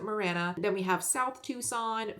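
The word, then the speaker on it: Marana: this map is Morana we don't pronounce it Morana here we pronounce it Mirana then we have south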